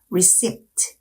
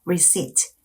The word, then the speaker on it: receipt: 때를 발음하시면 안 돼요 receipt 이렇게 하시면 안 되고 reit p 발음을 내지 않게 발음하시는게 중요합니다 이번엔 우리가 카페에 갔을